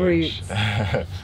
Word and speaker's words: Routes: So Routes of Change, or Routes of Change, depending on how you pronounce it. That's R-O-U-T-E-S of Change. Roots. Roots.